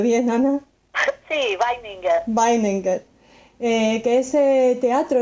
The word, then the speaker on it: Weininger: de un judío, la última noche de Oto Weningberg. No sé si lo he pronunciado bien, Ana. Sí, Weininger.